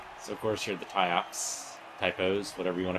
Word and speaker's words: Tyops: them we're using relief pronouncing it the way you would normally pronounce the word just spelled wrong so the pronunciation still intact it's a typos it's still correct okay